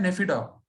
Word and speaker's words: Naypyidaw: इसकी कैपिटल है नेफिडा। NAYPYIDAW, ऐसे करके इसकी स्पेलिंग रहेगी, ध्यान रखिएगा।